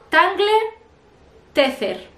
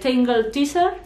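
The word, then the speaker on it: Tangle Teezer: ver cómo se dice, yo lo voy a decir tal cual se escribe, tangler teaser, pero no se dice así, yo creo que se dice tangle teaser o algo así, pero bueno, esta es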